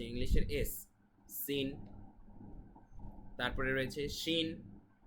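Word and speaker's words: شين: S scene তারপরে রয়েছে শিন শিন ইংলিশে যদি আমরা এস এইচ অথবা বাংলায় তালব্য সদি সেটার মত এই শিনের উচ্চারণ তারপরে রয়েছে সদ এটা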